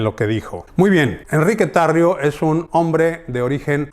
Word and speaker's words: Enrique Tarrio: Eso sí, le dicen Henry Tarrio, y probablemente pronuncian Henry Tarrio, pero su nombre es Enrique Tarrio y es de origen cubano.